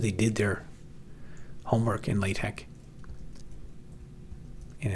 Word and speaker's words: LaTeX: did their homework in latte and it's it has quite a learning curve latte and people always tell me I mispronounce it. I call it I call it latex, but I guess it's lat.